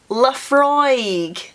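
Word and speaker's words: Laphroaig: any laf frog laf frog or laf oh laf frog yes fry that the same I don't know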